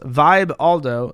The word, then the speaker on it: Vibaldo: sex product the vibaldo the vibaldo pronounced Vibe Aldo doesn't just include your